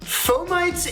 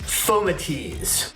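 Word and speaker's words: fomites: how to say foamites phomites is the popular pronunciation but if you want to sound fancy or if you're a latin teacher it's fomatease gotta go with fomidi's right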